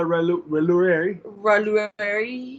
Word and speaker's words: Roulerie: We're in the Loire Valley, and I'm going to make sure I pronounce it correctly tonight. Oh, okay. So it's a Chateau de la Roulerie.